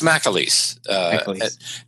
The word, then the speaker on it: McAleese: So it's McAleese. And the reason why it's spelled MCA, but the reason why it's pronounced Mac is because the C is followed by a vowel.